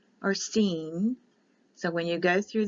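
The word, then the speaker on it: שׂין: an s i sin scene the I is pronounced like an e so a Sheen or scene so when you go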